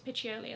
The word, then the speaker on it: Piccioli: I think it's Piccioli is how his last name is pronounced, has left Valentino.